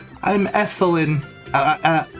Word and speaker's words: Elfilin: great so your name is kirby i'm effelin uh uh elfilin nice to meet you sorry i just